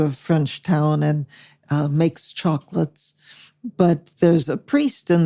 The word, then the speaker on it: Chocolat: I'm not going to spoil the movie for you, but I would recommend that movie to anybody, Chocolat, or Chocolate, for those of not French pronunciation.